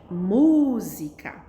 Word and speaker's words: música: mostrar para vocês que essas são as sílabas que a gente fala com mais força ao pronunciar a palavra né música a bicicleta é a